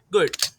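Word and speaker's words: GUID: First of ऑल हमारी पहली class है जिसका नाम है गुड। इसे काफी लोग गार्ड भी बोलते हैं क्योंकि स्पेलिंग में सिर्फ इतना फर्क है कि आखिर में इ नहीं है।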